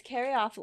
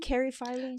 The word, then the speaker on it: caryophyllene: yes and robert was robert pronounced it um one way and i pronounced it the other and i can't remember who said which but i ended up going home and looking it up and it turns out either is acceptable okay so i think